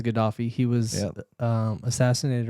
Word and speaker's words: Gaddafi: Yeah, I believe it's Gaddafi.